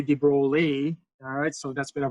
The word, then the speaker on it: de Broglie: what your professor is either a de Broglie and you pronounce everything in sight pronounce the out of everything or acknowledging that this guy is French you may go okay so I know there's some lettuce in there but you don't know which